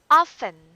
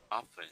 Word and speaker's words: often: Often. Often. Okay, so that is silent T.